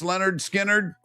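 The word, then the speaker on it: Lynyrd Skynyrd: Leonard Skard released their debut album, Pronounced Leonard Skard.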